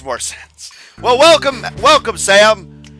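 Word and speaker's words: S_1re: one re it's pronounced sam all right cool hello sam the underscore is silent how you doing sam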